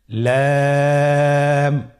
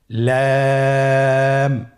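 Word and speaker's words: لام: লাম হরফটি উচ্চারণের ক্ষেত্রে অবশ্যই বারিক হবে এবং 3 আলিফ টেনে পড়তে হবে। আপনারা আমার সাথে বলুন লাম।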